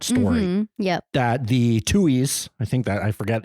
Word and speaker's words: Tuohys: That the Tuohys, I think that, I forget even if that's how you pronounce it.